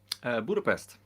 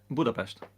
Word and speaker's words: Budapest: Budapest. Budapest. Budapest. It's. I like It's your more chilled, your and you accent. say a sh instead of a s a Yeah.